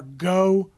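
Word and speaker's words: Geaux: word dot o RG or go vote but it's spelled the south Louisiana way GE aux and then v 0 te but it's all one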